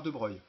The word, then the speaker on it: de Broglie: Et 1923, un Français, Louis de Broglie, alors ça se prononce de Broglie, ça s'écrit de Broglie, étend cette dualité onde-particule